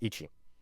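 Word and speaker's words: いち: But it's still pronounced ichi.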